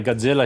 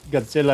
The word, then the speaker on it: Godzilla: watching the movie, I'm like, God damn it, I really want a Godzilla shirt now.